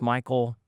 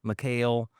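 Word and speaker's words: Michal: I've heard it pronounced Michael, McCall, Mikhail. I've heard it pronounced all kinds of ways. But what are you going to call her? I Well, that's I'm going to call her McCall.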